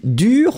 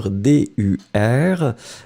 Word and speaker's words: dur: So it will be dur, masculine form would be dur, D-U-R, and then feminine form, remember that you will have to add in the end. Pronunciation will be exactly the same. So whether it's the masculine, dur, D-U-R, feminine form, dur, same pronunciation, D-U-R-E.